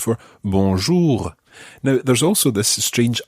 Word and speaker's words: bonjour: have the same beginning it's the word bo b-o-n and it's that nasal sound bonjour however when we come